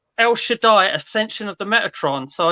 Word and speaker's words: El Shaddai: I've heard something very, very similar. I think when I heard it, it was like El Shawaddy or something when it came out.